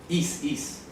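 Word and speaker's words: εἰς: Is. La preposición is. Escribe así, eis. Eis, eso. Pronuncia is significa para.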